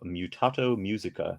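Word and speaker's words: Mutato Muzika: The game's soundtrack is particularly memorable and was created by Josh Mansell with the assistance of Mutato Musica, and that is how you pronounce it.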